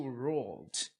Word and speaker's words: ruled: Então aqui a pronúncia é to ruled, não é uma sílaba nova.